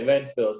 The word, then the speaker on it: Ventspils: And then after your hometown, you played you and your brother played together in Ventspils. Am I pronouncing it correctly? It's okay, Ventspils, yes.